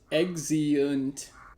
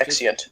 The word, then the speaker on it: Exeunt: Gateways is pronounced Exeunt. It's technically 3 syllables. It's Exeunt, yeah. Too hard to say the 3rd syllable, so. It's Latin.